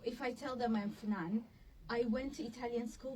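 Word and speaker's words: Fnan: Because obviously pronouncing it if somebody doesn't know that it's finan because there's no i but yes how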